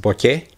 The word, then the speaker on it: bokeh: blur is called borte the original japanese word is pronounced bokeh it rhymes with sake and it goes with